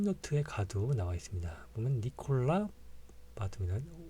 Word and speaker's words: Nicolas Batum: 보면 니콜라 바툼이다. 오, 툼 여기에 강세가 있고요. 니콜라 바툼. 프랑스어는요 마지막 자음을 생략을 하는 경우가 굉장히 많습니다. 니콜라스가 아니라 니콜라예요. 그래서 s를 묵음으로 처리를 합니다.